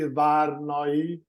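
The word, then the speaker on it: Várnai: Annika, did you like Reinder how he pronounced my family name, how correctly Varnai?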